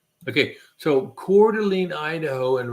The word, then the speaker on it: Coeur d'Alene: Coeur d'Alene Idaho I have not okay so Coeur d'Alene Idaho and right near core Delina I spell that c-o-u-r-d-e apostrophe l-e-n-e all right Coeur d'Alene